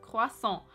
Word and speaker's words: croissant: Вот смотрите, вот так пишется слово круассан по-французски, и произносится оно как круассан.